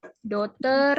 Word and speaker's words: daughter: Night, daughter ya. G-nya nggak dibaca. Daughter.